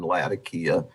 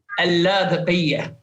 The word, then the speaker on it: Latakia: I will tell you that the people who live in Latakia pronounce it that way. But I've heard it pronounced Latakia too. Well, it's Port Latakia in Syria.